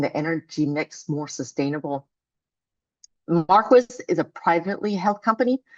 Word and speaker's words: Marquis: And yes, it is pronounced Marquis.